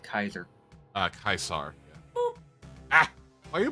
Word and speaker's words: Caesar: Yeah, in Fallout New Vegas, they call him Kaisar, but that's actually how. Ah, why you boop? That's actually how you're supposed to pronounce the name is Kaisar. Caesar is incorrect.